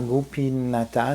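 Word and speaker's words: Gopinātha: veut dire Goupi alors gopinata gopinate parce qu'on prononce pas le a à la fin la plupart du temps pas toujours comme dans Govinda on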